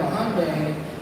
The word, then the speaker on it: Hyundai: if you drive a Hyundai that's when the that's when the samurai really strikes he's like every time I see a hondai h as the Koreans like to pronounce I like to say